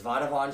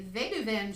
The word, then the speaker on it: Vadouvan: today we're doing uh we don't really know how to even pronounce it but it's vodavon shrimp and sweet chili sauce or or as youtube would have you say vega van shrimp and sweet chili sauce with i like vatavan but um that could be